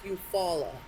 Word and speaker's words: Eufaula: Because it's actually spelled Eufaula. Oh, gotcha. But it's Eufaula. I see. But I was like, that sounds like a loofah.